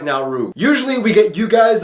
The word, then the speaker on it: Nauru: Yes, it's pronounced Nau, not Nauru.